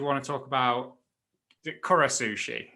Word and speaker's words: Kura Sushi: to talk about the kuras sushi is that how you pronounce it yeah so it's it's Kura Sushi and for anyone that